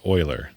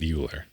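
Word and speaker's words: Euler: though I would say it's pronounced Oiler not uler and oh uh you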